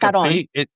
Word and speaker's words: guitarrón: And tell us about the guitarrón. Am I pronouncing it correctly? Yeah, it's like guitarrón.